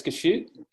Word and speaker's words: Gosiute: Um I I've heard it as gashoot. Uh, it's um it's a a term that came from um Native American Native American tribes that were in the southwest. And sometimes it's even spelled with a h.